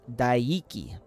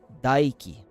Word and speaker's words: Daiki: So, in English, you would pronounce his name as Daiki. Daiki. But in Japanese, you'd say Daiki. Daiki. Kore wa Daiki desu.